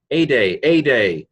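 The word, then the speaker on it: ἤδη: Ede, already, eta delta eta, ede.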